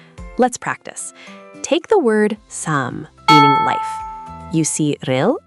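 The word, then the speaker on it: 삶: Sam is pronounced sam. Wait, actually, I need to correct myself here. This is one of our exceptions. For lum, we actually pronounce the right consonant, the m. So sam sounds like some.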